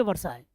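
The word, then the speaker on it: Versailles: treaty of वर्षाय spelling देख लीजिएगा वी ई आर एस ए I double L ई एस पढ़ेंगे वर्षाय treaty of वर्षाय किसके साथ हुआ था ये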